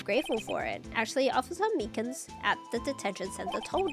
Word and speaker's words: Meekins: Actually, Officer Meekins at the detention center told us. Oh, that poor little doggy. Poor guy, I keep getting his name wrong and calling him Meekly.